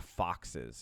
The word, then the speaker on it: Foxxes: There is a band that released an album on March 7th called Black Foxes. It's spelled Foxxes.